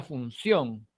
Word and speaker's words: función: La palabra París, la palabra función y la palabra tic-tacs son agudas, ¿de acuerdo?